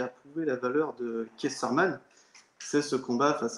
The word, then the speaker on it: Keith Thurman: Bon, pour une dernière fois, est-ce qu'on peut bien le prononcer? Moi-même aussi, l'anglais, c'est pas mon truc, mais c'est Keith Thurman.